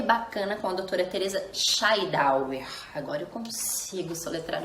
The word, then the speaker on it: Schaidhauer: E hoje o Doce Diário Materno está aqui mais uma vez com a doutora Teresa Scheidauer. Pronunciei correto, doutora?